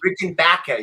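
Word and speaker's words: Rickenbacker: Baker for you maybe Rick and Baka you gotta say it like Marty Wilson Piper oh I got one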